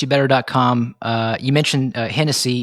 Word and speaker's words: Hennessee: Uh, you mentioned Hennessy. It's it's pronounced like the drink, but it's spelled differently.